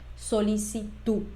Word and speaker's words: solicitud: de crédito fíjate que yo no hice una pronunciación al final de esta palabra yo dije solicitud la d al final en español es muda ella no tiene sonido ni tampoco va acompañada